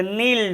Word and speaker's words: knoll: ना, उसी को ड्यून या टीला, उसी को नॉल भी कहते हैं, नॉल।